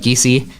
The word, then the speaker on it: Giese: Caleb Giese, by the way, notice I'm pronouncing that one right because I pronounce it like the announcers at Winfield.